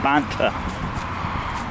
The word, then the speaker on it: Banta: I keep pronouncing it wrong. It's Banta.